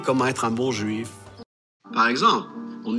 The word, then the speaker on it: par exemple: Правило такое, если буква X оказывается в первом слоге слов, окружённой гласными, она читается как гз, гз, гз, exemple. Да, окна окружена гласными у нас в первом слоге есть, поэтому читается как «гз», «par exemple».